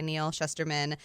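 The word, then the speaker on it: Neal Shusterman: And making note in my own head that it's like shush. Should or would, like sh, like, yeah.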